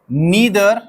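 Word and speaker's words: neither: तरह के वर्ड्स देखिए, ईदर, नीदर, इसे आइदर और नाइदर भी पढ़ सकते हैं, ठीक है, कोई कैद नहीं है प्रोनाउंसिएशन की, ठीक है। दो स्टैंडर्ड प्रोनाउंसिएशंस अवेलेबल हैं डिक्शनरी पे भी, वन is British English means British pronunciation and द अदर is American pronunciation.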